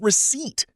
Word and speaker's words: receipt: The correct answer is receipt. The letter P is completely silent, which catches many learners by surprise.